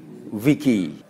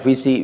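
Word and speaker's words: vici: Kita bacanya visi biasanya karena kita tidak membacanya dengan ejaan bahasa Latin tapi ejaan bahasa Inggris mungkin. Dalam bahasa Latin cancer pakai C, C-A-N-T. Seluruh C di dalam bahasa Latin itu dibaca K.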